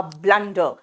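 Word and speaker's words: blunder: थी इट वाज अ ब्लंडर ब्लंडर बोलते हैं यू लिखते हैं लेकिन यू का प्रोनंसिएशन जो है वो यू नहीं होगा यहां पे अ होगा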